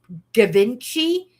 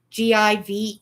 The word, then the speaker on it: Givenchy: It's a bottle of, I don't know how to pronounce it. It's Givenchy, Givenchy.